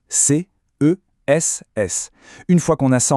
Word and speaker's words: CESS: On le prononce bien lettre par lettre, C S.